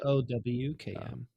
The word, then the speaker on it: Bochum: Maybe it's It's pronounced like Bowkm.